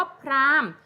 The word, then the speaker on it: พราหมณ์: เดือน ไม่ มี เสียง คำ ว่า พราหมณ์ โห หีบ ก็ จะ ไม่ มี เสียง ค่ะ ตอน นี้ เด็ก